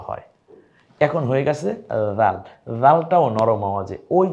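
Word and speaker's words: ذال: জালটাও নরম আওয়াজে, ওই যে সা যেমন নরম আওয়াজে, জালটাও নরম আওয়াজে। যেহেতু আমরা বহুবার এই অক্ষরগুলো বলবো এজন্য শুধু এতটুকুই বলে দিলাম, নরম আওয়াজে জিহ্বার আগা সামনের দাঁতের আগার সাথে মিলিয়ে জাল।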